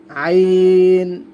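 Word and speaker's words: عين: এগুলো গলার ভিতর থেকে উচ্চারণ করা হবে একটু মোটা করে, আইন, গয়িন।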